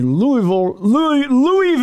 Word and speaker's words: Louisville: It's Louisville. Someday I'm going to put together a huge reel of news people pronouncing it correctly.